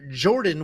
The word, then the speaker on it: Jourdain: Next up, at UFC Vancouver, we have Danny Barlow taking on Jourdain with a silent D, Santos.